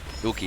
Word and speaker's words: Yuki: How's that pronounced? Huki? Yuki? Yuki, yeah.